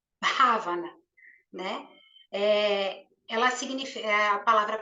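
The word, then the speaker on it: bhāvanā: raiz dessa palavra ela escreve com BH a v a n a mas a gente pronuncia como se fosse um ravana né ela significa a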